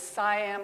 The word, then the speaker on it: CIAM: to as CI am sometimes pronounced as Siam couple of different pronunciations